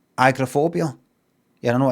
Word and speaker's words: agoraphobia: Um, and then I don't know the last 10 years I'd hear some Americans say agorophobia like agorophobia is not just agrophobia.